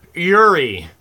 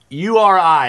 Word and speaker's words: Uri: Yuri. U-R-I. If it's not Yuri, it's pronounced Uri, one of the two.